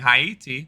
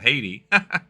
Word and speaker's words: Haiti: will work on because I've been saying heti that's a little better uh instead of Haiti but uh as it